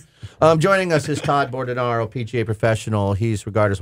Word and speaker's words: Bordonaro: caramel but it's okay are you aboard an arrow or burden ro Borden ro so yeah I've been mispronouncing your name you can say it the other way but it's Borden ro I can say Carmel